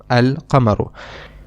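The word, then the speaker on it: القمر: And in the other noun we do pronounce the lamb. We say alamaru al kamaru.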